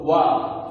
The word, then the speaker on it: one: So, wa. The pronunciation is wa.